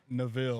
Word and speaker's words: Neville: And then we've got Casey, and I'm saying Neville, right? Neville. Neville? Actually. Yeah, I know. I've been saying it right. Everybody says it wrong, but it's okay.